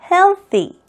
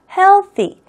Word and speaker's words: healthy: healthy. healthy. 혀를 최대한 앞으로 많이 치아 사이로 내보낼수록 th 발음을 더 정확하게 할 수 있다라고 생각을 하시면은 충분히 여러분들이 잘할 수 있을 겁니다.